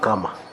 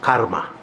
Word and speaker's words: karma: catch up with you I love comma I'm corrected by somebody in the studio that actually is pronounced Karma wednesdaypatchy to nato karma